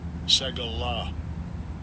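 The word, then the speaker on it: סגולה: And I'll give you a pronunciation of the word also. It is H5459. Strong's H5459. Segala.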